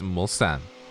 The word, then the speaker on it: Mulsanne: probably coming into into Mulsanne 1, or otherwise known as PlayStation Curve. To people who call it PlayStation, it's not PlayStation, it's Mulsanne. It's the right way to say it.